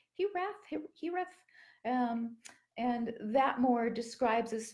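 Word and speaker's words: hiraeth: There's also an old Welsh word, I think it's pronounced Hireth, and that more describes this feeling of home or a lost place.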